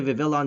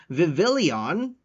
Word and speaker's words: Vivillon: the Vivillon deck um I didn't realize that I was using the wrong name for it I called it I pronounced it the wrong name I called it viveillion for so long and then after posting